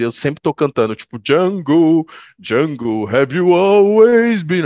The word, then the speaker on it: Django: Exatamente, e tem o próprio Django no filme, né, que fala, o D é mudo, aí ele eu sei